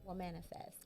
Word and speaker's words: Womanifest: so please um let everybody know what is what manifest did i get it right did i say